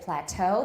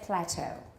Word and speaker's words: plateau: say plateau they say plateau they don't say massage they say massage so in british english they don't follow this rule of stress on the final syllable they usually stress it toward the beginning in british so here